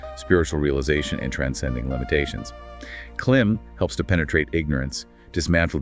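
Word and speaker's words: क्लीं: Next is clim pronounced clim with a soft.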